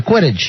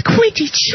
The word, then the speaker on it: Quidditch: I'm not sure if I'm saying that right. You're saying it right, yeah, Quidditch. Is that right, Harry? Yes, it's Quidditch.